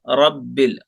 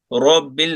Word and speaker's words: رب: الحمد لله رب العالمين रब्बिल नहीं बोलना है, रब्बिल रा को मोटा सीधा मोटा करना है गोल नहीं रब्बिल नहीं रब्बिल رب العالمين